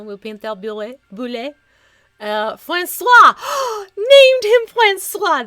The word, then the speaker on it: bulette: effect like everyone's like here's your pronunciation we're settled it's boule we're good Francois the